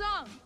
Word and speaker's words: Aang: hell out of me they say the main character's name wrong my name is ong they say soccer's name